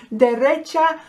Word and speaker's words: derecha: Derecha, you can hear recht, recht, right, derecha, okay?